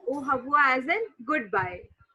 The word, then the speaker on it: Au revoir: O A U as an O, and this is hawa. Okay, we do not pronounce R. We say it ha. Okay. So R is sound, I mean the sound of R is her. Okay. So it will become O Havwa.